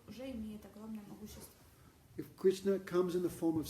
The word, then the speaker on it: Krishna: If Krishna comes in the form of sound, Если Кришна приходит в форме звука, no? Krishna, 2 syllables, Krishna.